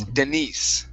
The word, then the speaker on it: Denise: the name here okay this is a female name it's Denise okay instead of Denise it's Denise try that Denise okay very